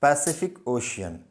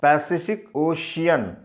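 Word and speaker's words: Pacific Ocean: इसमें 3 सी हैं और तीनों सी को डिफरेंट प्रोनाउंसिएशन से पढ़ा जाता है। पहले वाले सी का प्रोनाउंसिएशन है स, पैसी, और दूसरे का है क यानी फिक, पैसिफिक, और तीसरे सी को जो प्रोनाउंस करेंगे हम वो श, पैसिफिक ओशियन।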